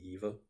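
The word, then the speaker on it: Yva: And one of them, whose character's name is Yiva, Eva, it's spelled Y-V-A, so I've called it Yiva for years, but I guess it's actually Eva.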